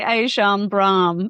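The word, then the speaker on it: Ajahn Brahm: And the world famous monk and abbott at the Buddhist Society of WA, Ajan Brah. Is that how I say his name? I say Ajan Brah.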